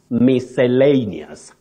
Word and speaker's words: miscellaneous: comes to spelling yes but what you say is miscellaneous misscellaneous so you can talk of